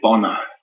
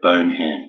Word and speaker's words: Bonham: Megan Fox is saying, is your pronunciation of Bonham correct, or did you say Bono? No, Bonham, B-O-N-H-A-M.